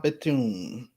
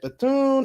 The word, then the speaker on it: Bethune: thoughts it says that bethune is the first black person to have state commission statue in the u.s capitol statuary hall replacing a statue of a confederate general the h is pronounced silent i thought so cause